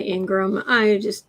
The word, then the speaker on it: Ingraham: Hannity and I'm just going to say Ingram. Does she deserve an extra? Seriously, does someone like that deserve an extra syllable?